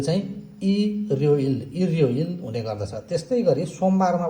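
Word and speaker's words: 일요일: जस्तै आइतबारलाई उच्चारण गर्नु पर्यो भने इल यो इल भनेर उच्चारण गरिदैन यो र चाहिँ माथि जाने हुनाले यो चाहिँ इर्ययोइल इर्ययोइल हुने गर्दछ।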